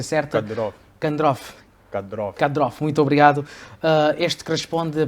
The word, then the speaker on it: Kadyrov: Vou citar aqui, mas temos aqui como segundo tema assim, a questão do Ramzan Kadyrov, acho que é a pronúncia certa. Kadyrov, muito obrigado.